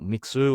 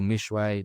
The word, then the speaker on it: Mixue: And I think that's what Mixu or Mishe, depending on how you want you want to pronounce it.